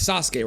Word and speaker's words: Sasuke: It's Sasuke, right? That's how you say it?